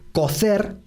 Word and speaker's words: cocer: Y aquí nos detenemos un poquito porque en España sí hay diferencia fonética en muchas regiones de España entre la pronunciación de la C y la Z por un lado y la S. En muchos lugares de España se dice cocer para cocinar y coser para unir tela con hilo y aguja.